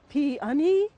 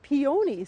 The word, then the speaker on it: peony: I have heard Pee-Uh-Nee and I've heard Pee-Oh-Nee so which is the right way to say it?